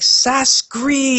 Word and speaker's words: Sacsri: I was like, "No, look at it. It's actually like Sacsri," and I Kree in all caps.